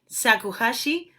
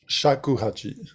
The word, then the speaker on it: shakuhachi: the the flute that i always said sakuhashi but you pronouncing a different shakuhachi yeah so yeah yeah